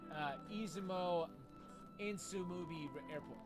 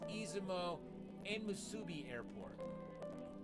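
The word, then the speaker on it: Izumo Enmusubi Airport: its official name is izumo insu movie airport okay let me try that again man I butchered that pronunciation I made it to izumo airport its official name is izumo and Musubi Airport it fits a romantic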